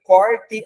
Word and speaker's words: corte: Quando nós temos ali corte a carne, o som é mais aberto, corte.